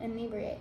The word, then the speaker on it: inebriation: When inebriation, is that how you say it again? Inebriate, yeah, inebriate.